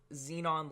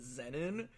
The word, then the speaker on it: xenon: saw this car with xenon lights and I always pronounced it Zenon because I didn't know any better. And he was like, "Wait, what? You mean xenon?"